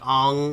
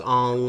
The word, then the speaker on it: Aang: show but i think some people are like really nerdy and they'll be like ong is the correct pronunciation i i haven't seen you no the only okay the uh in the show no it's ang it's always ang however the live-action movie